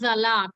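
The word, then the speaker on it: Salat: For zalat, the pronunciation is zalat. It's not salad, it's zalat.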